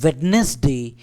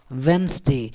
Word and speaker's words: Wednesday: It is not Wednesday, it is Wednesday.